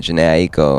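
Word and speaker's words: Jhené Aiko: Man, this new song, Beware, featuring Janae Aiko. People don't know how to say her name right, Janae Aiko.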